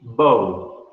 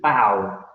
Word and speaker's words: bow: This one will be bow, bow. But this one is like the gesture that the Japanese and the Asian people do to show respect. They go down, they lower their heads. This would be to bow, bow.